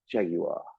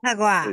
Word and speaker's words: Jaguar: Jaguar. I know how to pronounce it correctly. What? Jaguar. That's the way you're supposed to pronounce Jaguar. Jaguar.